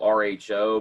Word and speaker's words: rho: Spelled R-H-O, but it's pronounced rho.